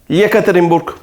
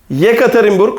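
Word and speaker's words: Екатеринбург: bir harfe bakalım ye Yekaterinburg Yekaterinburg Rusçada bir şehirdir Burada dikkat edin ilk E harfini y diye telaffuz ediyoruz ama ikinci E harfini normal e gibi telaffuz ediyoruz e harfinin zorluğu burada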